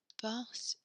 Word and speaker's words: porte: So porte, we don't have the R.